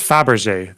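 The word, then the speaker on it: Fabergé: be above Russia so there's that is this pronounced Faberge the eggs exactly yeah good job this is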